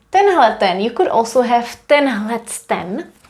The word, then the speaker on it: tenhleten: Tohle, tohleto, tamto, tenhleten. And did you also know that you can find another informal forms? Instead of saying tenhleten, you could also have Tendlecten with the t here.